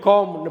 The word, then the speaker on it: comb: அதே மாதிரி இன்னொரு பி சைலண்ட் உள்ள வார்த்தை வந்து சீப்பு. சீப்பு வந்து COMB, கோம்னு படிக்கணும். கோம்புன்னு படிக்கக்கூடாது, கோம்.